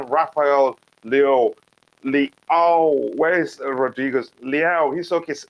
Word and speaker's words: Leão: Leao. He's okay. Sound like I'm pronouncing saying meow from a cat.